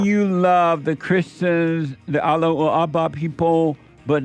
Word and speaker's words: Allahu Akbar: And do you love the Allahu Akbar people? You gotta say it the right way.